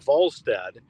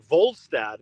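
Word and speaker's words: Wallstedt: Yesper Volstead. It's with a W, but pronounced with a V because of uh you know his his his origins in Europe. But so it's Volad, but they call him the wall of St.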